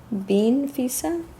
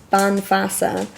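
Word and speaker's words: bean feasa: Bean Fisa? Woman's Wisdom. I'll read a little bit from here for you to close it out. Okay. I definitely pronounced it wrong. So, the wise woman, pronounced Banfasa, literally the woman of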